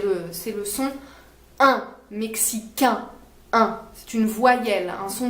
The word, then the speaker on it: mexicain: plus est plus ouvert mexicaine pour les filles mexicain fait plus nasale mexicain pour les garçons voilà marocain pour les